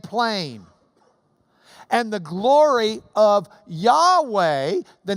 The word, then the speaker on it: Yahweh: their key P&ID bear I say I don't I because that's the way I memorized it but it's Yahweh in the original Hebrew because the mouth of